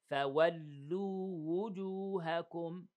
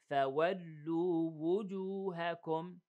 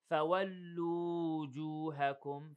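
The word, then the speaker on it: فولوا وجوهكم: Okay, so we want to make sure that we pronounce the wow as a vowel and then the wow as a regular letter, not as a vowel, like this. فَوَلُّوا وُجُوهَكُمْ.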